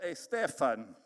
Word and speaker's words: Steffen: gracia y de verdad mi apellido difícil a pronunciar para algunos mi apellido Stefan es como mi prima gloria gloria Stefan ahora ya ustedes saben cómo pronunciar mi apellido gracias a Dios que